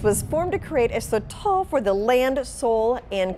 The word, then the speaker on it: sotol: You are saying it right. It's sotol.